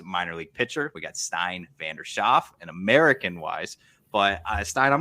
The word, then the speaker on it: Stijn Schaaf: The Dutch way to pronounce it is Stijn Schaaf. So of course with the which is a very common sound used in the Dutch language. Of course, the American language doesn't have it, so there's a struggle.